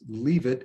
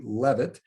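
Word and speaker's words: Leavitt: is sarah i believe that last name is pronounced leave it l-e-a-v-i-t-t or it could be levitt and though attractive beau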